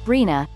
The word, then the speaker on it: RHNA: California uses a process called the Regional Housing Needs Assessment, or RHNA, pronounced RHNA, to determine how many housing units are needed in various regions.